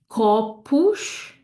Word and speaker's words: copos: So this one is going to be a sh, sh. So we have corpus, copos, and we have pastel, pastel, okay?